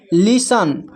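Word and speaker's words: listen: जब किसी वर्ड में टी ई एन टी सी एच टी एल ई रहे तो टी साइलेंट होता है।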